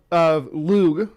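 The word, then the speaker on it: Lugh: The son of Lug, It's like a G sound, sort of, but it's not as harsh as the anglicized version of it. So you want to say it like with sort of a soft G, but not the soft G that you're used to. It's like lug, like at the end. It's not g, but it's not j either. It's lug.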